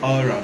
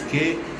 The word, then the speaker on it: Qawra: They called it the name of the hotel is they pronounce it Aura, but it's Qawra.